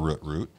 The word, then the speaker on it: Root: For people that, because I'll say Root, and they'll be like, spell that. R-U-T-T? And I'm like, no, R-O-O-T.